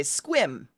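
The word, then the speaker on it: Sequim: no squim is spelled like that but you say squim like swim with a Q squim tons of them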